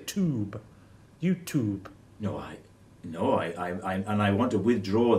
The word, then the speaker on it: YouTube: It's not a tube, it's a tube with a T. Not a tube with a CH.